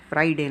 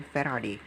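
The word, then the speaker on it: Faraday: फ्राइडे नहीं, Michael फेराडे, spelling देख लो ज़रा एक बार।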